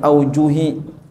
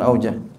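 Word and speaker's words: أوجه: Awil aujuhi. Nah, auju bacanya bukan aujah.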